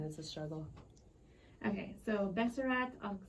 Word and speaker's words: Besserat: So, introducing you today, I'm gonna, do you want me to call it, okay, and you can correct me if I say it wrong, Besserat? Yeah, it's fine.